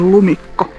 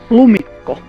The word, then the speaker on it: lumikko: think that this is what we call a lumikko. Like, The footprints? it's, yeah, the footprints of a How do you say it again? lumikko.